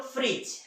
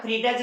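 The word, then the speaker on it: fridge: आर आई दी जी क्या पढ़ते हैं इसे हम लोग फ्रिज है ना फ्रीड्स नहीं पढ़ते तो वहां पर क्या है दी देखिए दी के पहले ए रहा है वो साइलेंट है उसी तरह से ब्रिज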